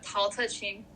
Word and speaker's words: Tao Te Ching: Yeah, Tao Te Ching.